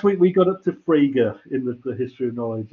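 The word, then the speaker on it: Frege: fraga because nobody can it's fraga it's not frage or friege or fragi it's fraga okay everyone say fraga it's the fragrance yeah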